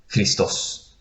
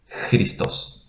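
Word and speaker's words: Χριστός: An example is Christos. Christos. It sounds Ch, as in school. Ch, Christos.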